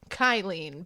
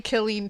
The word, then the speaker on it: Killeen: So I pronounced it Kyleen because in my mind it made sense. I'm sorry, Killeen, Texas.